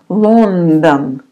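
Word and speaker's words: Лондон: is L Lon again the first o is stressed you pronounce like o but the second one is not stressed the second one you pronounce like a London lond done and then another City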